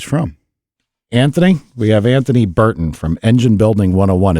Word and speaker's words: Berton: Anthony, we have Anthony Burton from Engine Building 101. Is it Berton? Is that how you say it? Yep, that's it.